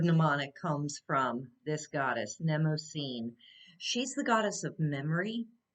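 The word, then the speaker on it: Mnemosyne: of the week is nemocene i'm gonna put that up there it's like spelled like mnemonic um and the word mnemonic comes from this goddess nemo scene she's the goddess of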